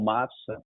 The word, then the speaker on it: MAVSA: Então, a partir daqui, a gente passa a pronunciar o Mafsa como SA no final, com som de S, né, por conta do S de Sabrina.